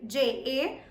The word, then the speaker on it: ja: Now, even though the spelling says J-A, which should be ja, but it ain't ja, we all know that, yes? So, the pronunciation is ja, J-A, ja, and ja in English means yes, yes.